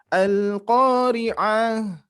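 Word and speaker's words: القارعة: Nanti ada dibacanya ada yang panjang, ada yang pendek, tergantung apakah ada mad atau tidaknya. Nah, ini sebetulnya sudah mendekati, akan tapi hati-hati ainnya kepanjangan, ya. Jadi seperti ini. Al-Qari'ah, Nah, di situnya dihindari.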